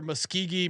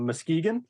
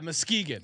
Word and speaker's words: Muskegon: wanted to ask me where Muskogee Michigan was I think I maybe mixed in I think you I think you butchered the name where you're thinking of Muskegon yeah Muskegon that's what I was there you go